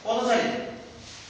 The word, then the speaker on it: পদচারী: যেমন যেটা পদচারী, আমরা লিখলাম পদচারী, কিন্তু আমরা যখন প্রমিত উচ্চারণ করব তার উচ্চারণ হবে পথচারী, অর্থাৎ এখানে পরপদ থাকার